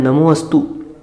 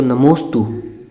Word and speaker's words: नमोस्तु: जैसे बोलते हैं ना नमोस्तु, तो वो नमो के बाद बीच में गण चिन्ह है, तो जिससे व्याकरण का ज्ञान है वो उसे जान पाएगा। नहीं तो सामान्य हम पढ़ लेते हैं नमोस्तु, तो वो क्या बनता है नमो अस्तु, नमो अस्तु, परंतु उसका उच्चारण नहीं करते हैं, वो लोप रहता है, तो नमोस्तु।